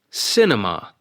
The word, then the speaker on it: cinema: On cinema, it is the first syllable, cinema.